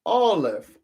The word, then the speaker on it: Aleph: And the close word for pronunciation is all. All. Aleph.